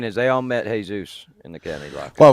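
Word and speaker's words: Jesús: Jesus is in jail. You're pronouncing it wrong because it's Jesus.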